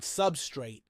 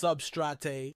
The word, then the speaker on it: substrate: opt for the word substrate. Please note that aquarists, just like patrons on my most recent live stream, are divided on whether this should be pronounced substrate or substrat.